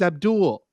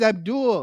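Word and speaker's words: Avdol: my man's name is Abdul his name is Abdul like they spell it as a v-d-o-l but yeah it's supposed to be pronounced that way you had a character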